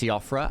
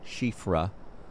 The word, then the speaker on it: Siofra: You always say it's Siofra. That's what I said, and then a lot of people were like, it's actually pronounced Shifra. Mighty dragon. And I was like, okay. Yeah, it's like Irish or something.